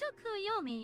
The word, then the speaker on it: Tsukuyomi: It is pronounced Tsukuyomi, you correct?